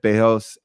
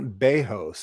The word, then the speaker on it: Bezos: you look at jeff bezos or you look at uh you can pronounce the z it's not bajos it's basically but brazil